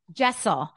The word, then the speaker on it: Jessel: Jessel Jessel how do you say her Jessel Jessel yeah okay there's Jessel who do you who